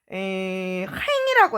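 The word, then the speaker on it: Rhin: 친구들 라인 강이라고 하잖아요 우리 프랑스에서는 라인강 자체를에 행이라 해요 행 여기 아 그니까 아가 아니고이 n이 무 발음을 앵 발음을 하거든요 그래서 강의 요정 이렇게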